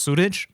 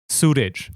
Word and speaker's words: Suraj: Surge is supposed to be pronounced Suraj, which means the sun in Hindi. Suraj. Suraj. And without an accent, it's Suraj.